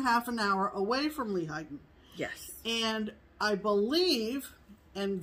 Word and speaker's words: Lehighton: pretty sure is that layton oh for sure it's not late it's lehigh yeah that much i